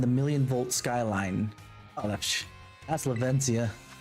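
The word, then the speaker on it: Levincia: million volt Skyline that's lavencia lavenzia uh lavencia I'm trying to pronounce it with his proper Spanish accent the marks of Pokemon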